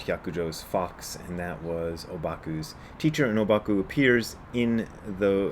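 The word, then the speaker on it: 黄檗: known by most by most japanese people as obaku and that's because the japanese pronounce the chinese characters that are used for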